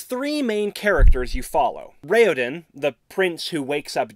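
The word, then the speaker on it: Raoden: vowel tones in pronunciation so it's rayodin not rauden sarini not Serene and I guess technically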